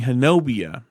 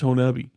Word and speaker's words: Honobia: And we're sitting there because we it's hard to wrap your brain around it not being hanobia and you know couple of out oftowners we're